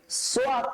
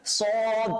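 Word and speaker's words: صاد: সদ এবং বদ আমরা নরমালি অনেকে পড়ি সোয়াদ পড়ি, সোয়াদ পড়ি। বেসিক্যালি উচ্চারণটা কি? সোয়াদ না, উচ্চারণটা কি স্যার? সদ, মোটা করে সদ।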